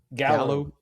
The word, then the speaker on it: Gallo: threw up that an article that is it pronounced Jallow Gallow Gallow bought Four Roses.